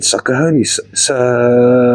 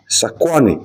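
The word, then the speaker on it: Sakoany: Then, Celestite from, well, I almost said Sakahoni. How do I pronounce it again? I keep forgetting. Sakahoni. Sakwani. There we go.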